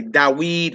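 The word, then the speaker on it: דָּוִד: You would say Dawid wa Abraham wa Ruth. David and Abraham and Ruth. All right. How would you pronounce that?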